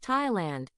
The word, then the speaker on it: Thailand: 타일랜드는 TH로 시작됩니다. 우리가 잘 아는 TH 발음은 think, thanks, both, path에 나오는 바람 새는 소리의 무성 발음이에요. 또 한 가지는 this, that, mother, brother. 소리와 비슷한 유성 발음이지요. 그런데 타일랜드의 영어 단어의 TH 발음은 예외적으로 그냥 태 발음이랍니다.